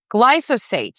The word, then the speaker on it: glyphosate: environmental lawyer, crusading against against glyco I always mispronounced this glyphosate.